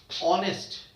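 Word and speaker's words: honest: अब आप बोलेंगे एच वहां पर साइलेंट है, जैसे ऑनेस्ट, आवर, ऑनरेबल, कुछ भी शब्द बोल रहा हूं,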